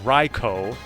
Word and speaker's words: Raikou: a lover of the cat Trio it is pronounced REO because Ry inp jaese is pronounced like our